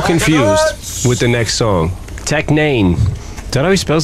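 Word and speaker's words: Tech N9ne: Tech Nane. Did I know he spells his name? N-A-N? No, it's a nine. He makes the I a nine. What's that look like? Look how it's spelled. Tech Nane.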